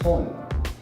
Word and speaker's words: Sun: In Korean, it's actually pronounced Son.